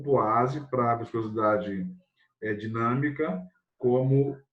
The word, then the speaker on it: poise: Se escreve poise, mas se lê poase. É lá da França, né?